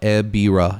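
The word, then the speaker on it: Ebirah: Uh, it's pronounced uh, Eira. Yeah, Eira.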